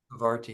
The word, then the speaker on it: Parvati: It's just Shiva and Parvati. Oh. Do I say it right? Parvati, yeah.